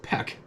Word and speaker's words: Pek: Everyone calls me Pek, pronounced like what a chicken does. Peek.